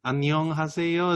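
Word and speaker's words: 안녕하세요: me on uh erica i know what annyeonghaseyo is that the right way to say it yes you're good you're good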